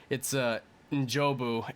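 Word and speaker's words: N'Jobu: We've been pronouncing his name wrong. It's Njobu, and the son's Wakandan name is Njidaka.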